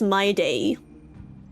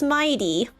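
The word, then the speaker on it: Mydei: Wait, the Korean group is pronouncing as my day and y'all are like, "No, it's Mighty."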